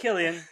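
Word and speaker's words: Cillian: about it that it was like it was silan Murphy no um hold on he's going to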